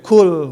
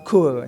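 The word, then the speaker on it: قُلْ: diwatirkan pengucapan alikhlas jadi Qul huallahu Ahad ya Qul Ya bukan kul ya ituu kan yang dikhawatirkan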